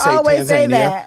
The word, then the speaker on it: Tanzania: In Tanzania, according to the Africans they say Tanzania. No, we say Tanzania.